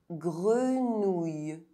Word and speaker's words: grenouille: OUILL is pronounced OUI. Grenouille.